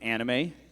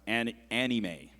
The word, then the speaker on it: anime: Your word is anime. It could also be pronounced anime.